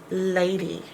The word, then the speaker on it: lady: more than one syllable the e sound is a y e why is this a long sound a because the syllable break is right there between the A and the D and that's a long sound a because it's open it's not closed in by consonant e laid e lady